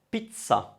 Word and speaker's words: pizza: i double z a so that double z would cause you to pronounce a double sound let's have a look